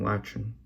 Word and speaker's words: Lachin: The cap, as you've seen, cap plenty of, the cap then becomes che, right? So like my last name Lachin, which is it means